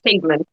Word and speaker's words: Cademan: Um like uh is it Cademan, the main character? Yes, it's Cademan. It is. I did get that right.